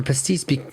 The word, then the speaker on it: pastis: But for pastis, and I eventually learned this because it's such an old word, they use the old pronunciation.